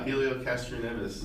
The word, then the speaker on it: Helio Castroneves: into Charlie Kimball and this other guy, Helio Castroneves. I don't know if you're saying that right. No, Helio Castroneves. Really? Yeah, that's how you say it.